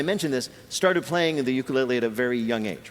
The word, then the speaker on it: ukulele: living masters of that island's traditional instrument, the ukulele. Peter's first question to Taimane. How the hell do you pronounce ukulele?